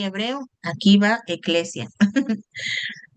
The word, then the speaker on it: ekklesia: Es el vocablo griego neotestamentaria para describir iglesias, eclesia. Ahí está una palabra en griego, para que ahí van aprendiendo. Escriban en su cuadernito donde tienen griego y hebreo. Aquí va eclesia.